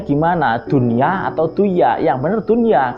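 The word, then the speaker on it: دُنْيَا: wajah dunia atau dunia Nah itu bacanya dunia Kenapa karena itu nun mati dan huruf Idgham Bighunnah nya dalam satu kalimat makanya tidak bisa dibaca dunia tapi tetap dunia Terima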